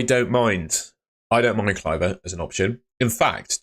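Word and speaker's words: Kluivert: Lloyd I don't want to talk about it cver it's it's pronounced cver I've been corrected in in the comments section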